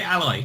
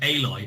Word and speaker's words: Aloy: They it's won't say it properly. Say Alloy. Nope, Aloy. Aloy.